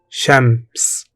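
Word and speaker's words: شمس: Pronounced Shams.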